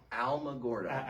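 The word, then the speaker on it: Alamogordo: Alma Gordo. Alamo. Like remember the Alamo? Gordo.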